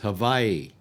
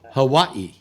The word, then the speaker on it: Hawaii: Uh, uh, uh, I was listening to Jack Bishop one night and he referred to it as havi.